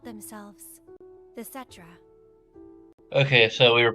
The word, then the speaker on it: Cetra: They called themselves the Cetra. Okay, so we were pronouncing it right the entire time.